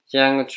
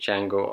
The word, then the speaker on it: Django: Django! You black son of a bitch! The D is silent here, Billy.